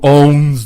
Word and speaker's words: owns: anglais, tu sais, who owns the Chiefs, tu sais, prononcer le S à la fin de own.